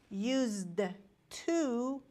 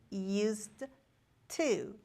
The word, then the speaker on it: used to: When we pronounce used to, we don't pronounce like used to. It is not a strong pronunciation. It's just used to. And we don't pronounce D in used to.